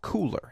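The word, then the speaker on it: Kuler: Now, it's spelled K-U-L-E-R, but it is called Cooler, as in, hey, it's cool.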